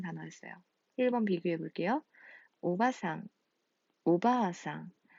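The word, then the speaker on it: おばあさん: 오바상, 오바아상. 자, 바 다음에 아가 한 번 더 나왔어요. 이렇게 같은 모음이 연속될 때 장음이라는 법칙이 생겨났어요.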